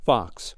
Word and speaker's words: Vox: But today, Torrente's diatribe sounds lifted from a certain real political party's playbook, a party whose name rhymes with the fictional Nox. It's called Vox.